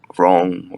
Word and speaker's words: wrong: Wrong, right? It's silent W. There's no double. It's like when we say silent W, it means there is no W, right? It's like you shouldn't pronounce a W, right?